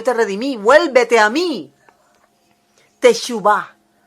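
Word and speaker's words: תשובה: Y resulta que la palabra arrepentimiento que se usa en el Antiguo Testamento es la expresión hebrea teshuvah. Teshuvah. Se escribe con para los que tienen algo de hebreo, tau, shin, vav, bet y la hei.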